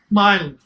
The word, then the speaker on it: myelin: It starts secreting a substance called, can you figure out how to pronounce that? Myelin. Myelin.